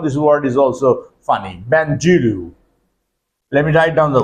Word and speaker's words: bandulu: Benjuru. Let me write down the word. B A N D U L U. Benjulu.